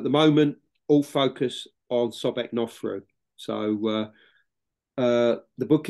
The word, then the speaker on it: Sobekneferu: moment all focus on sobeknoffro so uh uh the book is called the first female pharaoh sobec sauce so I'm saying it wrong myself now Sobek neferu goddess of the Seven